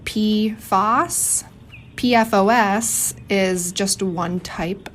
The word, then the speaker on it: PFAS: and polyfloral alkyl substances most people pronounce it P Foss pfos is just one